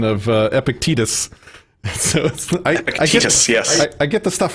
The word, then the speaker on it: Epictetus: But one of your edits that you caught when you were proof listening is my complete mispronunciation of Epictetus. So Epictetus, yes.